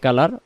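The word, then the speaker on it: قُلْ: কুল হু ওয়াল্লাহু, কুল হু ওয়াল্লাহু, এই শব্দটাকে আমরা কুলু বলবো না, উচ্চারণ কুল, কুল, কুল, কুল হু ওয়াল্লাহু, কুল হু ওয়াল্লাহু, কুল হু ওয়াল্লাহু আহাদ, আহাদ, আহাদ।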